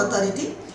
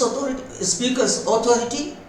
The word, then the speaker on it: authority: See, dear students, this word AUTHORITY should be pronounced as, it has 4 syllables. O, Thor, E-T, authority, authority. But we are normally pronouncing it as authority. No, authority. Authority.